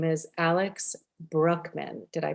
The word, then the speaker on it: Brueckmann: an incredible guest today his name is alex brookman did i pronounce that correctly wonderful thank you he is